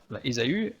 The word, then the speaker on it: Ésaü: Ésaü, prenons Ésaü, en fait on dit Ésaü, mais en réalité s'il fallait traduire, s'il fallait le prononcer tel que c'est écrit en hébreu, c'est Esav.